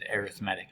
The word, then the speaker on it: arithmetic: number it's spelled like arithmetic but we do pronounce it arithmetic it's an arithmetic sequence uh so what you'll